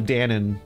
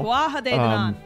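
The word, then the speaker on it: Tuatha Dé Danann: I just called them the Danon, like the yogurt thing, because the last words looked like it. Yeah, was supposed to be pronounced Danon. Some of them got mix-ins. Yeah. They're yogurt gods. Anyway, Breed, who is first among the Fae for now. Tuatha Dé Nanann. There you go. There it is.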